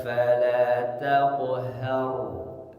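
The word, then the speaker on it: فلا تقهر: Kemudian cara membaca huruf ro sukun ni sebelumnya fathah maka tebalkan cara membacanya. Tebalkan tafkhim. Tidak. Fala tafhar. Bukan har. Fala tanhar bukan har tapi faammal yatima fala taqhar har.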